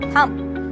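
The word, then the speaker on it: thumb: ऐसे ही हम बोलते हैं थम, तो ये होता है थम, पर इसे हम थंब नहीं बोलते, इसे हम थम बोलते हैं।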